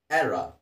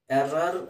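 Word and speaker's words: error: Okay, next ಪದ ಎರ್ರಾ. ಎರ್ರಾ, ಎರ್ರಾರ್ ಅಂತಿದ್ರೂ ಆರ್ ಹೇಳೋ ಅವಶ್ಯಕತೆ ಇಲ್ಲ. ಎರ್ರಾ, ಎ ರಾ, ಎರ್ರಾ.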